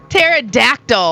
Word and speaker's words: Pterodactyl: Pterodactyl.